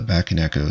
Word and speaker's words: Bakeneko: get right into the packaging here for the back and Echo 65 I'm pretty sure that's actually how you pronounce it and I always love when keyboards